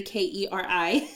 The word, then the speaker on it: Keri: So, and then you can just find me on Instagram for Keri_, and it's Keri, Keri. Keri. Is that how you pronounce it?